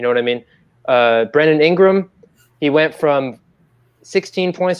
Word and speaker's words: Brandon Ingram: fan uh but i do think that uh brandon ingram that's how you pronounce it brandon ingram deserves most improved player